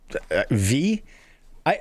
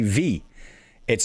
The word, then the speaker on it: Vi: This one V. I I it's spelled VI. I think it's Vi Jones. As soon as I see that name, I say V because one of my